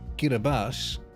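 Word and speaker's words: Kiribati: Do you know that Kiraabati, pronounced Kiraabas, is the first one to celebrate New Year's?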